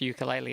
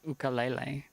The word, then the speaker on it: ukulele: So it's not actually pronounced ukulele, as it's like ukulele.